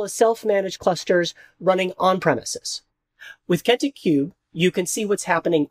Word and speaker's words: Kentik Kube: Which is why we've developed Kentik Cube. We're just pronouncing it cube.